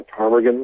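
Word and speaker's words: ptarmigan: there yes which is called a tarmagan that turns white into the water i know it starts with a p yeah that's the stupid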